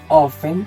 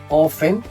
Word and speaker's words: often: Tenemos ofen, en el que no pronunciamos la t, decimos often.